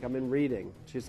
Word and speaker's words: Reading: And reading. I used to say, instead of Reading, I used to say reading.